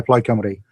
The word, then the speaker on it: Plaid Cymru: Plaid, or is that how you pronounce it? Plaid Cymru? Yeah, Plaid Cymru.